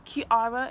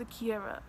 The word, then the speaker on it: Chiara: like one I pronounced Akira and like ah no matter how many times I correct them I'm like knows camera it's pronounced as it's world okay key and then ARA ARA ki ARA like where's the where's